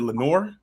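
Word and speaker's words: Lenoir: Is it Lenor?"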